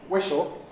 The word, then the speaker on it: whistle: And it's not pronounced whistle, and it can't be pronounced whistle. Sorry. Well, with a sh, special. Whistle. Whistle is right, whistle is wrong.